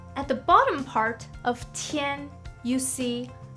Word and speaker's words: 天: The first one is called 天. 天, which originally means sky. So if you already know, at the bottom part of 天 you see 大, which means big.